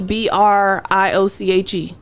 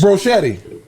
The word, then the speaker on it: brioche: how do you pronounce BRIOCHE? Bronchitis. What? The bread is called BRIOCHE. BRIOCHE. Brioche. Brochetti.